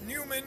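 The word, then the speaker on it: Neumann: is a noyman God sorry back it's a noyman or Newman or however you want to pronounce it it's a nman u87 AI which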